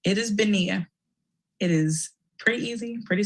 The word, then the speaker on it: Benia: stood up and literally my name it is benia it is pretty easy pretty simple to say in my entire life people have butchered it almost every time i've heard my